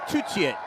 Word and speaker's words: Tutiet: Voice of former Welsh international Philippa Tutiet, or Tutiet, with the French pronunciation of your surname.